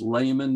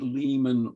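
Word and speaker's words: Lamon: father's name she said her name was Layman not lemon or lemon and um if bab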